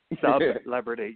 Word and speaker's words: Sub-Lebrity: Sub-Lebrity. Yes, we got to pronounce that hyphen because I am not a celebrity.